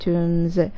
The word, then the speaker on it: tombs: found in the royal tombs التي وجدت في royal tombs المقابر الملكية. Tombs girls مقابر. Pay attention to the pronunciation. The letter P is silent.